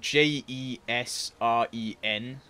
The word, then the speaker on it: Jesren: It's spelled J-E-S-R-E-N, but it's pronounced, like the J's sort of not pronounced, so it's Jesren.